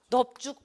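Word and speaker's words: 넓죽: 리을 비읍의 대표음은 리을인데, 리을 비읍의 대표음은 리을인데 비읍으로 발음 나는 경우가 있다고 제가 강조를 해드렸어요. 언제? 넙뚱, 그렇죠? 외우셨죠? 넙뚱, 넙적, 하나 더? 넙죽, 그렇죠?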